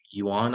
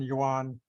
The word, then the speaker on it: yuan: you can see that the chinese yuan i believe it's pronounced when compared to the